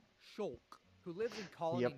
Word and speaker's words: Shulk: Pronounced Shulk, who lives in Colony Yep, 9 together with his best friend and his childhood love interest.